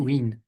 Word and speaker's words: Tatooine: That's how we pronounce it. Tatooine.